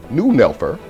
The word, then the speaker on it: Neunelfer: The Porsche 911, pronounced 911, or in German, Neunelfer, is a two-door, 2+2, high-performance rear-engine sports car made since 1963 by Porsche AG of Stuttgart, Germany.